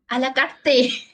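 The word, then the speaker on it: à la carte: a la carte? No. The way how she say it, a la carte. In the past, I just pronounce it a la. I want the Allah only.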